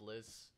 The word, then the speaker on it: Lis: Oh, what's up, Liz? It's pronounced Liz. Liz? Because it's L-I-S.